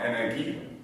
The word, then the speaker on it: Energie: The interesting piece of this is, this new energy, or Energie, as we pronounce it in German, transition, has actually been okayed by the current German Chancellor, who's conservative.